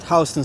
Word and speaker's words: Houston: So, we're coming up on this is East Hston Street. It is uh it is it is spelled the same way as Houston, the city in Texas, but it is pronounced H as in house.